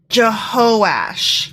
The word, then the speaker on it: Jehoash: I mispronounced that. It's Jehoash.